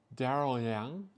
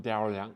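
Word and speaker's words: Daryl Yang: last name is Yang darl Yang it kind of works in my tongue darl Yang so when I introduce myself I say it with two distinct separate words Daryl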